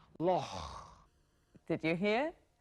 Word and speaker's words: loch: The answer to what's loch in Scottish English is... And in England, they would say lake, but in Scotland, we say loch.